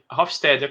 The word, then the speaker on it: Hofstede: Hofstede.